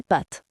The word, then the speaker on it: pâte: Ensuite des pâtes. On lit des pas et pâtes. On traîne sur le a. Pâte, c'est un a long.